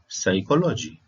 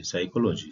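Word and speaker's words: psychology: में D silent है प को देखिए साइकोलॉजी पी एस वा सीओ एल ओजी वा साइकोलॉजी साइकोलॉजी का होता है मनोविज्ञान साइकोलॉजी की स्पेलिंग में पी का उपयोग हुआ है परंतु साइकोलॉजी के उच्चारण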